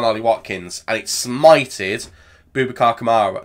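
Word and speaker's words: Boubacar Kamara: Watkins and it smited bubacar Kamara not bubak kamaro where did that come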